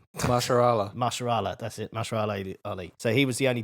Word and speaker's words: Mahershala Ali: But basically, the only one who was actually cast was Maharaja Ali. I can never say his name. Mahershala, that's it. Mahershala Ali.